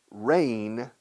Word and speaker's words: reign: Reign, spelled R-E-I-G-N, reign, o sea, reinado, G muda, se pronuncia igual que lluvia, rain.